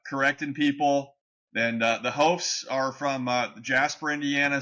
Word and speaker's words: Hopf: it and he said hop the way that it you read it like it's written hop that's how the Germans say it and we here in